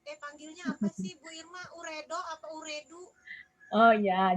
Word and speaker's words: Ooredoo: Uredo apa Ooredoo? Oh ya, jadi ini bacanya Ooredoo Bu Ratna, teman-teman. Oh iya, Ya. bacanya Ooredoo teman-teman. Ooredoo, kayak rindu gitu ya, kayak gitu, rindu-rindu gitu.